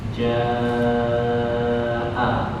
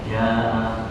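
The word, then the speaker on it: جَاءَ: itu semacam kayak alis yang seharusnya dibaca panjang 4 atau 6 harokat dibaca 2 harokat. Misalnya ada kata ja'a, itu kan 4 harokat pasti dibacanya 2 saja, ja'a gitu ya.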